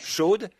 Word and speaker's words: Shad: En réalité, le mot hébreu, Shad, S-H-A-D, certains le prononcent Shod.